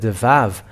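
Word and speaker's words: וָו: Okay, so we can say now the Vav. The Vav, because it is called as Vav, it is pronounced as a V.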